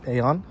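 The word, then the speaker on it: AEON: My friends took me to the Eon Mall, and for my English speakers, it's pronounced Aon, the one pretty close to Camp Foster.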